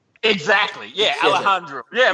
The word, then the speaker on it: Alejandro: hold on, Alejandro. Exactly. Yeah, Yes. Alejandro. Yeah, right, Alejandro. And you think No. Alejandro? Friends, say it like you respect the culture.